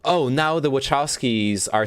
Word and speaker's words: Wachowski: hello lily wachowski here wachowski that's how you say it okay i'm glad that